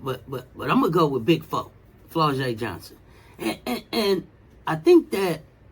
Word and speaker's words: Flau'jae: And Coach, they told me to let you know that it's Flau'jae, not Flau'jae. It's Flau'jae.